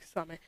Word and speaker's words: Kisame: Kisame, however you want to pronounce the name. I like Kizame, but I suppose it's pronounced Kisame.